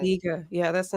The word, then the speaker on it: La Spiga: Spiga.